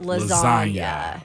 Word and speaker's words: lasagna: move in silence like lasagna. And he said, as we say, this was G14 classified. Yeah, I loved that. If you don't get the reference, you don't pronounce the G in the word lasagna.